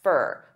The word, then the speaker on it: for: Now, many native speakers will combine all 3 of these together and they'll pronounce for as more of an unstressed fur.